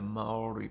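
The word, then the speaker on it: Māori: But we say Maori. Maori, Maori. But they pronounce it more like Maori, and it rolls off the tongue so much better the way they can say it.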